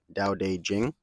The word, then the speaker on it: Tao Te Ching: Um, but yeah, the book for January is Tao Te Ching, or as it's supposed to be pronounced, and it tells you at the beginning of the book, Tao Te Ching.